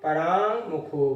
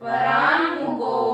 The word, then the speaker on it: पराङ्मुखो: विषय सौख्य विषय सौख्य परांग मुखो भूत पराङ्मुखो भूत इंगा का उच्चारण है तो ग नहीं आए परांग अरे नहीं हो परांग मुखो भूत